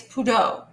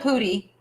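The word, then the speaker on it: putti: right now yeah so they're telling me it's Pudo puto tell you what I'm looking at let's see so I've always called it a putty okay I see why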